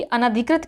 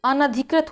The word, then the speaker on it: अनधिकृत: तो अनधिकृत होता है ना, अगर सही उच्चारण करेंगे तो सही लिख लेंगे, अनधिकृत होता, अनाधिकृत नहीं होता है, क्या होता है, अनधिकृत होता है, ना में कोई भी मात्रा नहीं होती, छोटा ना होता है, ठीक है, अनधिकृत।